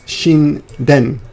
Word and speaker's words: Shinden: It could be pronounced Shinta or Shin or Aratata. Anyway, in this case, it's Shinden, as you can see.